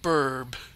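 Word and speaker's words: birb: Nice little burb. Yes, it's spelled like that. Sounds B-I-R-B.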